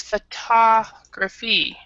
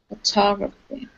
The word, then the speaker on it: photography: photographer and this one the second one is photography photography and this is a a very common a